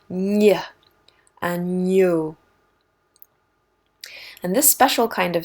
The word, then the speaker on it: agneau: GN is just like getting peanut butter off of the roof of your mouth. Ny, agneau.